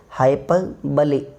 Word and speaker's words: hyperbole: The correct pronunciation of this word is hyperbole. Hyperbole. छोटी ई की मात्रा एल पर, hyperbole.